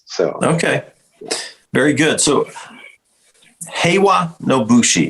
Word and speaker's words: Heiwa no Bushi: So Heiwa no Bushi, did I say it right? You said it correctly.